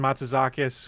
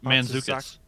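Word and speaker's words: Mantzoukas: Jason Matsuzakis, who I always think of as Rafi from The League. I believe. Whoa. How'd you pronounce that? It's Manzukis.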